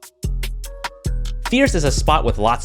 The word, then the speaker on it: First: secure some great shots by the way it is pronounced Fierce and yeah we both thought it was first at first as well upon arriving